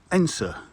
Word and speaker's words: Edensor: Now Edensor is spelt Edensor, or in other words Edensor, but it's pronounced Edensor, E-N-S short E.